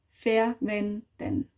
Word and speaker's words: verwenden: Wir verwenden sie mit der Schale. Use means verwenden. So verwenden. Wenden. Menden. So again, the n, you would spell den, but you say n. Wenden. Wenden. Wenden. Verwenden. Verwenden.